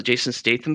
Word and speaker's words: Jason Statham: uh like a Jason is it Statham's a Jason Statham film is that how you pronounce his name yep yeah I thought you're